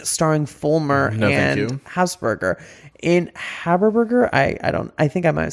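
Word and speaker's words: Habersberger: It's Haberburger, but you've been mispronouncing as Hazerburger, I think, earlier.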